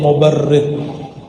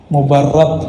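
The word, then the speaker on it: مبرد: Man ra'a wajhaka yas'ad ya karimal walidaini hauduka safil mubarrid wirduna yawman nusyuri. Mubarrad bacanya, as-safil mubarrad.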